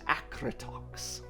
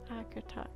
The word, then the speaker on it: Acritox: My name is Acritox. Acritox. It's terrifying. It suits you. Thank you, Acritox. Um, how do you spell that?